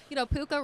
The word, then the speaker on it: Puka: Because you're a LA sports guy, obviously, and Puka rhymes with Luka.